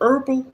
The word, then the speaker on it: herbal: or herbal is it herbal or herbal I think it's herbal we say herbs but the H is silent but anyhow this is